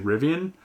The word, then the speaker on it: Rivian: They called me out on the way I'm saying Rivian, and I think I did at the beginning of this, and it's actually Rivian. At least I'm assuming it's Rivian because when I looked it up online, made sure I listened to the pronunciation, that's the way they were saying it.